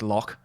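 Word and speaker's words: lough: loch beyond the lock not quite sure how to pronounce l-o-u-g-h i'm i'm going with lock ye like a rash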